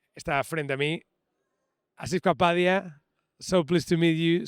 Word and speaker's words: Asif Kapadia: Acabamos de hablar con Anthony Dodmantel y está frente a mí Asif Kapadia. So pleased to meet you, so pleased to talk to you. Am I pronouncing this right?